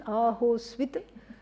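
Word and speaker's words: अहोस्वित्: What is this ahosvit? Yeah, a very complicated way of saying va or. Yeah. So if you have a lot of time, you can say ahosvit. 3 syllables, okay?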